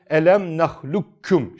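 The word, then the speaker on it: أَلَمْ نَخْلُقكُّمْ: da arkadaşlar ne yapıyoruz gafı ortadan kaldırıyoruz şekle veriyoruz Elem nahlukkum şeklinde okuyoruz Bu bilgiyi de bilelim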